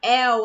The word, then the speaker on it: el: Como a maioria vai naturalmente acabar empregando ele como um el aberto. Não, ele não é aberto, ele é fechado. O som dele é fechado.